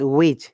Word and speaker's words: which: By the way, it is not which, it is which. Remember, H is silent.